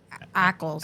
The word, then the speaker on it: Ackles: Jensen Ackles that's how you pronounce his name, right? Jensen Ackles. Ackles, I Ackles, think, right? not Yeah. ankles, and ankles.